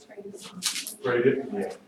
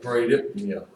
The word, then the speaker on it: bradypnea: Okay, I want you to listen to this, because here's where pronunciation is important. The first one at the top, bradypnea. What? Bradypnea, Oh.